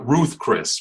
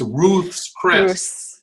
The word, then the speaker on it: Ruth's Chris: calls it that right they call it Ruth Chris because nobody can pronounce roots even America so they'll say yeah I'll meet you at Ruth's Chris because nobody else's pronounces it correct its Ruth's Chris you know yeah so